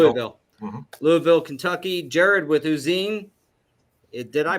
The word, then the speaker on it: Uzin: Louisville Kentucky Jared with usen did I pronounce that right uh the Germans pronounce it uten so yeah uten and uh I'm out